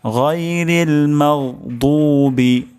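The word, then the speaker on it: غَيْرِ الْمَغْضُوبِ: বিকৃতি সাধন হয়ে যেতে পারে তা আমরা দফ উচ্চারণ করব গাইরিল মাগদুবি গাইরিল মাগদুবি তারপর শব্দটি হলো আলাইহিম আলাইহিম আইন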